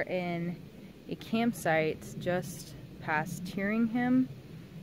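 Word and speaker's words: Tyringham: a campsite just past hearing him massachusetts i think that's how you say it correctly at t-y-r-i-n-g-h-a-m tearing him anyway it's a really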